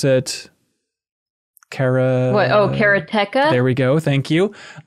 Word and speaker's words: Karateka: We've talked about it before with Atari 50 and then with the making of course, Kelsey knows how to pronounce it. Karateka.